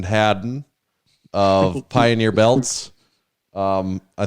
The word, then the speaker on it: Hadden: introduction here this is don't call me hayden hadden of pioneer belts um